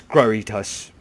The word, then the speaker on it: Grotius: So, the short answer to your question is no, I've never regretted opening my soul to Grotius. I know it's Groitus, but Grotius sounds better.